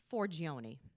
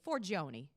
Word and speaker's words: Forgione: And I just want everybody to pronounce it correctly. The last name is Forgione. So I want everybody at home to just say, put their hands up and just say, Forgione, Forgione, Forgione.